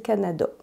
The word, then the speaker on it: Canada: j'ai hâte », donc juste avec un « a » plus fermé, comme « Canada », on dit « Canada ». J'ai déjà fait une vidéo au sujet du « a » final qui est différent en français québécois.